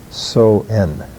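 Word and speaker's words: Samhain: it's spelled s-a-m-h-e-i-n and it doesn't pronounce anywhere like it's spelled it's uh basically called so n that's what the word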